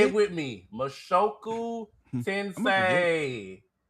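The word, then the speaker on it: 無職転生: Mashoku tensei. That's why you are the pronunciation king.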